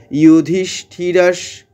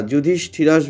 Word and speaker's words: যুধিষ্ঠির: ইউধিষ্ঠিরাস, আমরা কিন্তু কেউ জু বলবো না, যুধিষ্ঠিরাস বলবো না, আমরা বলবো ইউধিষ্ঠিরাস শান্তনবম, এইখানে কিন্তু তালবস্যটাকে দীর্ঘ করলাম, দিয়ে দীর্ঘ করে দন্ত নয়ের ঝোঁকটা নিলাম।